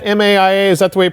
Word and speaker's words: MAIA: Is it MAIA, M-A-I-A? Is that the way you pronounce it? Yes, MAIA.